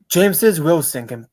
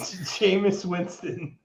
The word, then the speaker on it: Jameis Winston: You're telling me a guy, James Wilson, I don't know how to say his name. I don't even know how to say this guy's name no more because Jameis Winston.